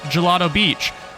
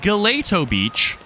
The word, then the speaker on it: Gelato Beach: like this in uh Gelato Beach, which as a child I always pronounced Galileo Beach, which I still still think sounds better. Uh and you could climb around here and get coins and it was cool.